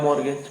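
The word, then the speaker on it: mortgage: मोर को अलग कर लीजिए, यहाँ पे गेज को अलग कर लीजिए, हो गया मोरगेज। टी को साइलेंट रखते हैं, टी क्या आपको साइलेंट रखते हैं।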